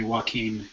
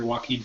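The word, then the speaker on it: Joaquin: to pronounce that uh it's probably Walken because like that actor Walkin Phoenix okay yeah last name's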